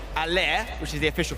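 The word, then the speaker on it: Haller: I'm very delighted to say Allaire, which is the official pronunciation by the way, at West Ham has got a one-to-watch item.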